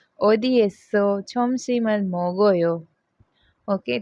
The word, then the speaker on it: 먹어요: Okay, and मोगोयो, तो mock OYO नहीं बोलेंगे, मोगोयो।